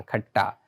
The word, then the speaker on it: खट्टा: ये ठा नहीं यहां पर ट ऐसा इसका उच्चारण खट्टा मधुरा पुल्लिंग में प्रयोग किया जाता है।